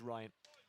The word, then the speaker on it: Rian: Spelled Rian, but he himself prefers Ryan.